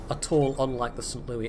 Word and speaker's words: St. Louis: Louis, that's got St. Louis rather. It's the American pronunciation because it's an American city.